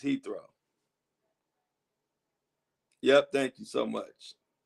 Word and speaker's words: Heathrow: How do you pronounce it? Heathrow? Okay, good. Thank you. It's Heathrow.